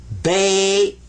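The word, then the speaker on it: بيت: sakon uhh what's a suon suon means don't pronounce it but give it some value anyway this is bait bait house bait house now so that you'll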